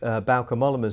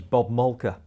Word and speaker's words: Bauke Mollema: 2 or 3 years ago, the commentators mispronounced Bauke Mollema's name as Bob Malka.